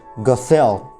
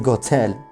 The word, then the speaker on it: Gothel: know it's it's for i know many people would say gothel gasel gazelle gestel however since we are since this story is supposed to take place in germany i'm going to pronounce it go tell go tell sometimes i'm sometimes i might pronounce the thing as gothel but that's just convenience of pronunciation let's have a look